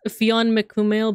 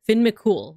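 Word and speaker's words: Fionn mac Cumhaill: forgive me but um it looks like it's pronounced Fon mum but I think I heard that it's Finn Finn mul right because he's also in fake Grand order so I think it's Finn mol right like oh nice thank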